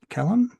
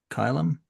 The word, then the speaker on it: Callum: Okay, so yes, she's given you your mission, and Callum? Yes, Callum. Yeah, I think you would more pronounce it Kylan. Kylum? Yeah. Kylum. All right, Hmm. rhymes with Pylum. Or Phylum.